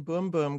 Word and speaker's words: Bum Bum: brazilian soul genero brazilian boom boom cream is that does boom boom boom boom bum yeah but it's pronounced boom boom apparently oh is it spelled